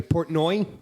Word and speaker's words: Portnoy: name again dave uh portnoy portnoy that's how you portnoy is how you pronounce it importantly so yeah what